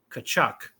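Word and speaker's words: Tkachuk: at uh pron pronunciations there's no T it's just P there's a t right there oh I see is silent kachuck there you go oh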